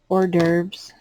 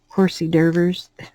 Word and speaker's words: hors d'oeuvres: have different kind of hors d'oeuvres my son called him call him horsey derbers because he would try to pronounce it like they were spelled um my oldest son